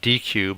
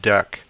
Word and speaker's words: deque: a deck is um it looks like dq but it's actually pronounced deck so deck also known